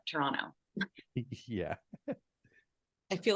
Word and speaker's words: Toronto: The T is silent, Toronto.